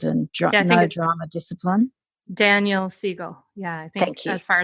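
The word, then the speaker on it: Daniel Siegel: I'm actually not sure if that's how you pronounce his name by Kol brainchild and Drive no drama discipline Daniel Seagle yeah thank you as far as I know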